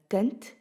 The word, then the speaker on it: kind: 'n Kind. Kinders. The spelling for kind is K I N D. Can you hear that the D at the end of the word is pronounced as a T?